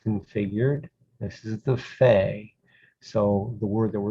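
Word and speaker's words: פ: this is the pha it's pronounced as an f for a ph sound this is the pha just look at this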